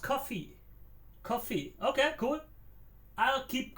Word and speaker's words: Ko-fi: Kofi is pronounced coffee.